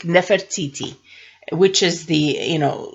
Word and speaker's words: Nefertiti: someone who looks like Nefertiti which is the you know in English you would say Nefertiti but Nefertiti is how I would pronounce it if we were speaking Atlantean so now let's see